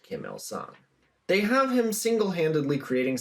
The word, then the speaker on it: Kim Il-sung: Kim Becoming the Sun, both of which are pronounced Kim Il-sung.